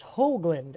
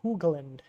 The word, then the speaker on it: Hoagland: In case you're wondering, it's Hoagland, as in hoe, not Hoogland.